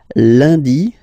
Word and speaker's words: lundi: Lundi, lundi. Okay, remember, UN is pronounced like un.